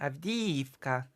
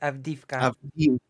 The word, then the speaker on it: Avdiivka: It's even written with the E with the 2 dots in Ukrainian. Avdiivka. not Avdivka. Avdiivka.